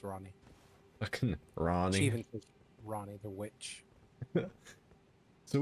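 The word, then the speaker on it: Ranni: name was actually ronnie okay it's spelled a randy but yeah she says that ronnie so i'm not gonna argue with the character how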